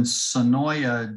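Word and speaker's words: Senoia: It was filmed in Sonoya, Georgia, is how it's spelled, but the locals pronounce it Sonoy.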